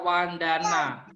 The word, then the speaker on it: vandana: temannya telinganya sakit Wesley mungkin ya dibaca wandana ngajarnya juga bisa membaca